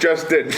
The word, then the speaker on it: Lustin: It sounds like Lustin. Lustin. Lustin, pronounced Justin.